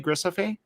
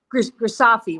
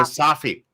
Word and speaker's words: Grisafi: Grisafe? Grisafi rhymes with coffee. Grisafi.